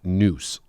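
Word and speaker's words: nous: or and I'm sorry and owe us it's pronounced noose like n oose so and and what is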